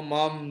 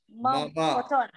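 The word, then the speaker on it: मम: No mom, no Hindi. Mama.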